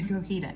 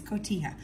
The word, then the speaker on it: cotija: have put Teja cheese it's not Co heeta I always pronounce the kajita it's cotija Monterey Jack or corn